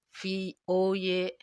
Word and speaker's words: Voynich: Bacanya Phoenix. Voynich.